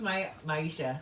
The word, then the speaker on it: Maisha: Masha says Nia. Oh, it's Maisha.